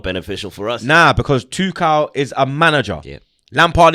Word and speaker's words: Tuchel: And finally, Thomas Tuchel, because that's how you pronounce it. It's not Tuchel, it's Tuchel. Tuchel. Yeah, Tuchel.